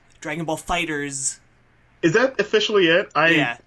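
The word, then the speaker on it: FighterZ: But there is the very because of the capital Z, there is the very strong inclination to Fighter Z. But that's not how you're supposed to pronounce it. Fighters.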